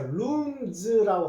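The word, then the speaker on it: rooms: 자, 그래서 룸에다가 s 요거는 z라고 읽어 주십시오. 그래서 룸즈라고 하고 첫 자를 대문자로 이렇게 써놓고 놔두면요, 이게 광고에서 방 세 놓습니다 하는 그런 뜻이 됩니다.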